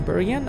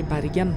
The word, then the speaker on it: Bergen: level Naser Jimin berdiana maybe I should stop saying Berean and say but again because that is actually how it is pronounced that night yeah if